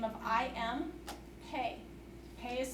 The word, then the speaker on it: Pei: a gentleman by the name of I am pay pay is spelled pei and if you notice here he's